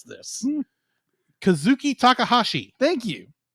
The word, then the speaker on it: Takahashi: passing boat uh Tash tooshi what do you pronounce it Takahashi Takahashi Takahashi uh was was basically announced uh